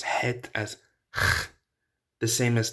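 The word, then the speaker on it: חית: the H is sort of swallowed, it's not pronounced. So that can happen. Now, the second letter is het.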